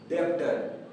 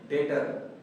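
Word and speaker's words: debtor: दूसरा word डेप्टर। डियर student, इसे डेप्टर नहीं बल्कि मैं डेटर, डेटर करके हम प्रोनाउंस करेंगे।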